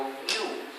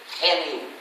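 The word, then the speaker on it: GNU: ya no es nuevo Pero todavía es en inglés hace falta pronunciarlo G pero en castellano es aceptable pronunciarlo New como si comenzar por en lo que es también el nombre del mismo animal otro error de pronunciación que hay que evitar suena como genu genu es tan incómodo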